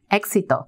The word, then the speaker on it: Éxito: So talk to me about this program, this bilingual program that WISE started, the Éxito. Did I say it correctly? You did. Éxito.